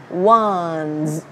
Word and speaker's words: ones: Và nó là âm ớ, chỗ này mình sẽ là ones, ones, ones. Nó là âm đu là âm z mọi người nha.